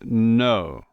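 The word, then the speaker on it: nos: For our, it's notre and no. You don't pronounce the S, of course.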